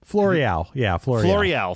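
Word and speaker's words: Floreale: I believe I'm pronouncing that correctly. And he found a man named Michael Floreal. Floreal, thank you.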